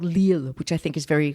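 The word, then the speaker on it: L'Isle: extremely wealthy and it's on a river called lille which i think is very kind of strange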